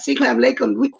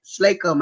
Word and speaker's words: Slacum: They don't do people know Clam Lakem? I keep saying his name. C. Dwayne Slacum. I keep saying his name wrong.